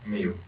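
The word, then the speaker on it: Miu: How do you spell how do you pronounce that? Mu.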